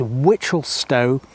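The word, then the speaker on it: Wichelstowe: East, next bit word, are pronounced the same as the word witch. So yes, it is Witchelstow and East Witchel.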